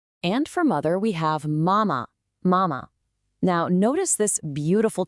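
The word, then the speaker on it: 妈妈: Mother is m high and steady. That difference in tone is absolutely critical. And just like with dad, that second syllable is neutral. Mama.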